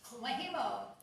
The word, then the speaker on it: Kumihimo: So, make sure, again, you check her out for this other class, pronounced Kumihimo.